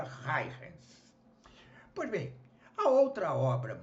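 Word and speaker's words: Huygens: pelo físico Holandês Christian hens né é um nome difícil de dizer se escreve hu y g e n s creio que se pronuncia hens pois bem a outra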